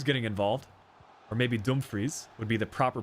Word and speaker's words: Dumfries: Dumfries getting involved. Or maybe Dumfries would be the proper pronunciation.